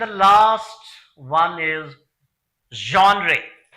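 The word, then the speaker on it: genre: एंड the last one इज जॉनरे। इसकी pronunciation आप देखिए, जॉनरे यानी कि कैटेगरी, श्रेणी जिसको कहते हैं, टाइप जिसको कहते हैं, स्टाइल जिसको कहते हैं।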